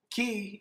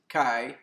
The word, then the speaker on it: Ki: Ki energy, or some pronounce it Kai energy, is the energy of life in the philosophies of Asia.